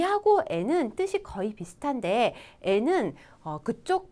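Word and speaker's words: へ: 좀 지리학과 말씀을 드리면 이 조사는 발음이 원래 가해져 그쵸 해 라고 있는데 조사로 쓰일 때만 발음이 에 라고 되죠 그러니까 바꿔서 읽어볼까요 도서관에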